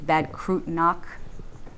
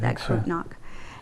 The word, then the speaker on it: Bad Kreuznach: And then he, I believe that's where he won the death march to, I don't pronounce it correctly, it's Bad Kreuznach. Is that how you pronounce it? Bad Kreuznach.